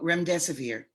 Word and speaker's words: remdesivir: Oh, remdesivir.